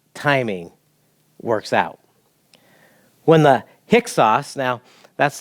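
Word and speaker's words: Hyksos: amazing how god's timing works out when the hicks sauce now that's not how it looks like when you spell it but that's how you pronounce it kind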